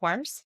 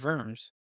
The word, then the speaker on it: Worms: It's not pronounced Wars. No, it's Worms. Oh. Uh Germans pronounce W's as V's.